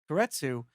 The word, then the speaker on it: keiretsu: And what was really cool when we were doing the research was you're also managing partner at Keiretsu. Am I pronouncing that right?